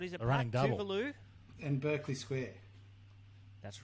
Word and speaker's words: Tuvalu: our Melbourne analyst, but he said Tuvalu rhymes with coral.